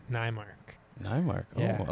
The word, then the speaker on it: Neymark: Neymark. Am I saying that right? I think so. Relative. I mean, you can let me know if I'm I- butchering it. My ancestors pronounce it Neymark.